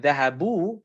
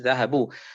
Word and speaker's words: ذهبوا: We always write the alif next to the wow like that, but you don't pronounce the alif, which is dhahabu.